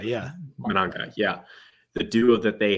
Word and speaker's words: Mananga: Mananga, yeah. Mananga, yeah.